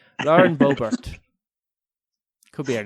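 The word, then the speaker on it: Boebert: Christian mentaler, and we were kind of arguing over how her surname is pronounced. I think we settled on Lauren Bobert.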